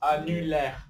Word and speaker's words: annulaire: annulaire, annulaire. annulaire, R, R, voilà, c'est ça, R. donc N, est, R, re, et voilà, et ça, E muet, on n'entend pas, c'est un E muet, très bien.